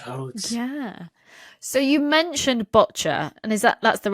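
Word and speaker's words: boccia: what the future holds yeah so you mentioned botcher and is that that's the right way to pronounce it isn't it botcher yes well done a lot of people say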